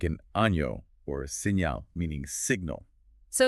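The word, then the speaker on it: año: sounds I like it think about the word ano meaning year you don't pronounce it Eno right but rather Uno almost like one flowing sound oh I hear it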